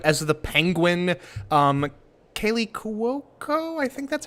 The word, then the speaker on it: Cuoco: got wayne knight as the penguin um kaylee cuoco i think that's how you pronounce her name is um uh voices harley